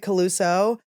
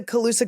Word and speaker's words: Colusa: saying it right now I've been calling it coluso but you guys know I am I'm LD it's I'm learning disabled it's one of the cute things about me that you like so I mispronounce things and it's adorable and